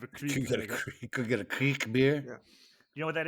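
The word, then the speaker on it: kriek: beers there so many you could have the creek I have a creek AEK get a creek beer you know what that is no it's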